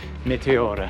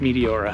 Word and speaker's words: Meteora: So years ago, I don't even know how, I stumbled across Meteora - "Meteora" [English pronunciation] - and thought, "This place looks amazing.